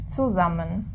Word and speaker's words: zusammen: With buzzing S. Yeah, the S is always buzzing when a syllable begins with it.